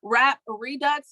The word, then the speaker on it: Redux: the name again please rap redux his it's like rap and then it's spelled r-e-d-u-x and he has a